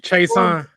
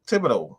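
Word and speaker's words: Thibodeaux: Kevon Chason. No. Thibodeau.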